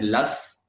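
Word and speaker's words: loess: and then wind deposited we call this as las the spellings are a little bit we have to say like pronunciation is different than the spellings we'll call it s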